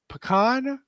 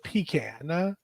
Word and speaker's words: pecan: Do we say pecan or pecan? Well, y'all just make me feel bad when I say it like I say it because it sounds nasty now. But it is pecan.